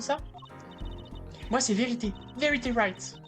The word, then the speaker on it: Wright: Verity Wright. Il y a un W à Wright, mais on ne le prononce pas.